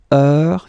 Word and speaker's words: heure: All right, so heure, you write it like that. Remember, H is not pronounced, okay? So it goes like heure.